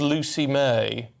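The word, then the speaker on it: Lwci Mei: Well, she's called Lucy May, but it's spelled Lwci, Lucy, Mei.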